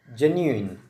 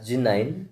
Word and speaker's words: genuine: GE a new irony this particular word is pronounced as genuine some people wrongly pronounced it as g9 which is not correct it is genuine genuine